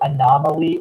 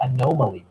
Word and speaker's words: anomaly: The single anomaly or anomaly, both are acceptable pronunciations, is Mindy Robinson running as an independent in Nevada's 3rd congressional district under the Patriot Party of Nevada banner.